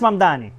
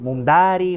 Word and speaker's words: Mamdani: Fíjense, nadie sabe pronunciar mi apellido. Es Mamdani, pero a cada rato me dicen Mumdari, Mumnari.